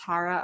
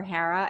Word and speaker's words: Hara: Just think of O'Hara and leave off the O.